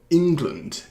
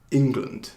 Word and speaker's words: England: 그래서 첫 번째 syllable를 좀 강제하는 거예요. 그래서 England 이렇게 발음하는 거예요. England.